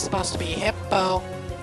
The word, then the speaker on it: Hippopotas: Why can't people pronounce it right? It's supposed to be Hippopotas, like that, but you know, it's kind of tricky.